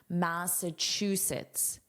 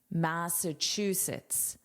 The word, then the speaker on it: Massachusetts: Close your eyes and just listen to my pronunciation. Massachusetts. Chucets. Chucets. Massachusetts. Massachusetts. This is what I would personally write as the phonetic spelling, what I actually hear.